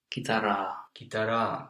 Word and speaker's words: kitaraa: Soittaa, very good with the two A's. And guitar? Kitaraa, yes, very good. It's very important to pronounce the both vowels.